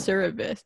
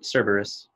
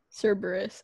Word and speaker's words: Cerberus: what i want cerritos no i think it's service it's like the um wait i have to google it now greek with three heads yeah server cerberus cerberus oh my gosh i was i pronounced it